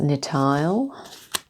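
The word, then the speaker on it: Nithael: So this is pronounced Nitael.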